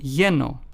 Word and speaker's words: lleno: As in, they both have the ye sound found in the English word yellow. For instance, let's take the words lleno, which means full in Spanish, is pronounced as lleno. Then we have the word pollo, which means chicken in Spanish, is pronounced as pollo.